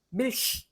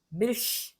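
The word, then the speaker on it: Milch: 그냥 펴고 정확하게 우리말의 리을 발음처럼 하시면 됩니다. 밀히, 밀히.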